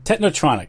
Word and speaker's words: technotronic: know the the The techn Chronic am I saying it right era I think it's techn chronic technotronic yeah techn I don't know how to pronoun technotronic technotronic that's it yes okay anyway um you